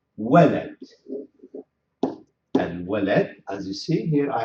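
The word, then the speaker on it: الولد: Al walad, as you see here, I have to pronounce it also Al walad.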